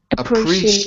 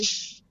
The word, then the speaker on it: appreciate: Appreciate. Appreci. You're missing a syllable.